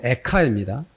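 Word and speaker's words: איכה: 독특하게도이 예레미야 애가로 부른이 말씀이 히브리어로 에카입니다 에카인데 우리나라 말로도 발음이 예가입니다 그래서 묘하게 일치가 돼서 그렇습니다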